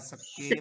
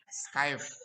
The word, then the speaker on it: Skype: Video conference, Zoom Meet, Google Meet, Bukan skip, Skip, Diana, dan Skype. lain-lain. Skype, bukan skip. Oh, Ya nggak salah apa-apa. ya. Tapi nanti bacanya bukan skip ya Skype.